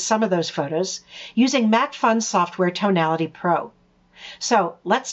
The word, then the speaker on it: MacPhun: You work at MacPhun Software.